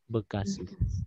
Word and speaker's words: Bekasi: Tapi tulisannya kita tulis Bikasi ya. Bikasi. Tapi kalau bacanya harusnya tetap kita baca Bekasi. Ya, cuman orang Arab biasanya nggak bisa huruf E dia.